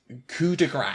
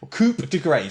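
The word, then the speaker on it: coup de grâce: the first one the first them the first pronunciation is one that is I think is very very very common and that is coup de Gras this degrades coup de grace so this is Coupe de grace yes so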